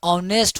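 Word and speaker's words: honest: का यूज करेंगे तो ऑनेस्ट होता है तो ओ के अनुसार ऑनेस्ट है प्रोनंसिएशन उच्चारण में स्वर वर्ण आ रहा है तो एन लगाते हैं तो एन का यूज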